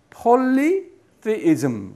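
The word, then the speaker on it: polytheism: 액센트가 어디 있어요? 폴리테이즘. 예. 그러니까 작은 액센트는 포에 있고 폴리테이즘. 그러니까 폴 정도는 도레미 정도 될 것 같아요. 미, 솔 이렇게 올라가는 거예요.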